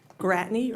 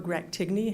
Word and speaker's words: Gratigny: which is a Dolphin, Gratigny, or Gratigny, however you want to pronounce it, 924, 874 Don Shula, and 878 Snapper Creek.